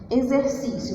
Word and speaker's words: exercício: tenho a seguinte frase, exercício, vamos ver a palavra exercício. Fiz todo meu. Vamos escrever exercício juntos? Vamos lá. Zé. Eu pronuncio Z, né? Mas como é que eu vou escrever?